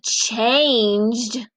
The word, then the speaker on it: changed: When the E follows the G, that G makes the J, J. Gentle ginger. So it makes the J sound. So changed. Do you hear T or D at the end?